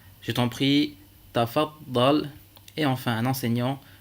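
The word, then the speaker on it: تفضل: On dira sukkar, tafaddal, muallim.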